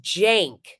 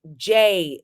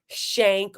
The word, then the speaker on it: Cenk: but people like get their names right it's Jank like jenk is how it's pronounced or Sager that's how it's pronounced when